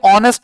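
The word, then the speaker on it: honest: A university हो जाएगा, लेकिन ये ऑनेस्ट लिखा है क्योंकि एच हमारा क्या है, साइलेंट है, ठीक है ना, तो ऑनेस्ट हो तो एन ऑनेस्ट मैन।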